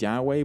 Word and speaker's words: Yahweh: is the letters yhwh the actual pronunciation of yhwh was lost thousands of years ago today it is sometimes pronounced as yahweh but that's just one